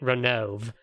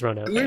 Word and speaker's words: Ronove: I was definitely a Ronove until I realized that it's actually kind of important that his name is 3 syllables long.